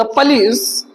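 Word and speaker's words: police: द पुलिस are trying to get eight. पुलिस क्या कर रही है? देखो मैंने हिंदी में बोला पुलिस बोला हूं बट in English this word is pronounced पिश पलिस पलिस द पुलिस are trying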